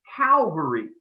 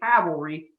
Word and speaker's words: Calvary: history of the 93rd the word i'm going to be pronouncing is calvary the place where jesus was crucified i am not reading cavalry for soldiers it's calvary gettysburg is the calvary